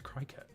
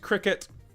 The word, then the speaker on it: Cricut: But I always read it as Cricut. I do. Because if that had a T there, we would probably call it a Tricut, not a Tricket. But I believe it's pronounced Cricket.